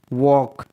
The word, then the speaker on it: walk: वॉक, WALK, वॉक, यहाँ पर L और K का कॉम्बिनेशन है जिसमें L साइलेंट है.